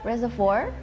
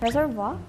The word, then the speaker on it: reservoir: Reservoir? Reservoir, is it? Reservoir. Reservoir. Reservoir. So reservoir. Reservoir. Reservoir. This is like a French-based word, so In India as well.